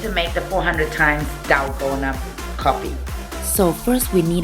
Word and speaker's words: Dalgona: It's pronounced as Dalgona, so let's stick to Dalgona.